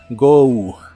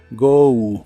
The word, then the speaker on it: go: Go que significa ir la o se pronuncia como o u go go el auxiliar wouldn't junto